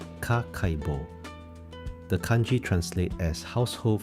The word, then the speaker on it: Kakeibo: The notebook is called a Kakeibo, pronounced Kakeibo.